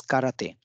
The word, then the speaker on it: 空手: this is in Japan both of which are pronounced the same that is karate to indicate that the